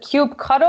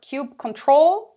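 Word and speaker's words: kubectl: that's actually interesting one is it cube cuddle or cube control what Isaac you Brendan on the right way to say it tube control that's what I say I say cube control by I know plenty of people who say cube cuddle but I thought I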